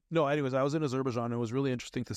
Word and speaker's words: Azerbaijan: Azerbaijan? Azerbaijan.